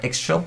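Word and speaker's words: Ixchel: So we have 3 copies of Ichil over here, or Ixchil, as it's pronounced. Some people prefer that pronunciation.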